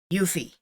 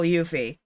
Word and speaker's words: Yuffie: Her name is Yuffie. Like, if you've ever heard her name announced, spoken, pronounced, whatever, in the game, or in, say, Final Fantasy VII Advent Children, it's Yuffie. And I will tell you, I've watched Advent Children in Japanese. It's still Yuffie.